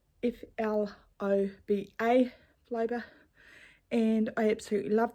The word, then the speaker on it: Floba: It is it called Flobo? I'm not quite sure how to pronounce it. It is in New Zealand. The fabric, I bought it in New Zealand. It's FLOBA, Floba, and I absolutely love the fabric.